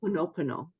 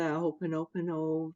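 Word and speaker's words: Hoʻoponopono: Ho'oponopono.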